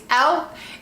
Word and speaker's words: e.l.f.: Poreless Putty Primer, and I say it like that because yes, it's e.l.f.